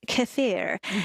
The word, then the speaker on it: kefir: but also like kefir also the correct pronunciation is kafir and Greek yogurt.